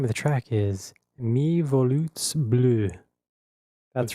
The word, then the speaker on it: volutes: The name of the track is Mi Volutes Bleu. That's right. It's pronounced volutes.